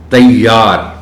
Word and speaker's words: تیار: خاص توجہ چاہیں گے۔ تیار، اس لفظ میں یہ پر شد ہے، لیکن عام بول چال میں نے دیکھا ہے کہ لوگ اس شد کو بولتے نہیں ہیں اور